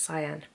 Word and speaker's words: Sian: That I can't just say, oh, it's pronounced Cyan. But I just sit there awkwardly and let somebody call me Shan.